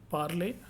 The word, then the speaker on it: parler: Final er always pronounced a, like English word day. Okay. Santé. Okay, it is chanter, danser, parler, travailler.